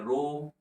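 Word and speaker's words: ρ: हम current pass कर रहे हैं और उसका क्रॉस सेक्शनल एरिया क्या है यहाँ पे। और ये जो सिंबल आप देख रहे हैं, इस सिंबल का प्रोनाउंसिएशन होता है रो।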